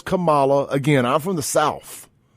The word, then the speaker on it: Kamala: some stuff on Camala I will not say camela her name is Camala again I'm from the